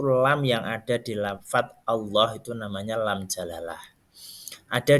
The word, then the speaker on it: Allah: jalalah adalah hukum bacaan lam di dalam lafaz Allah yang ditemukan di dalam al-qur'an jadi lam jalalah itu lam yang ada di lafaz Allah itu namanya lam jalalah ada dua macam bacaan